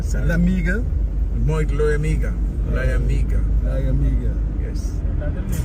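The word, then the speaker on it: Liamuiga: Pronounce that word for me again, yeah? I don't get it right. Moit Lamiga, sorry. Lamiga? Moit Lamiga.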